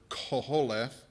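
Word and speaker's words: קֹהֶלֶת: It's, if I can pronounce it right, it's the Hebrew word koholeth, and it basically means speaker or preacher.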